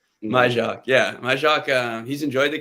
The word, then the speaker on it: Majchrzak: Majchrzak. Majchrzak, yeah, Majchrzak.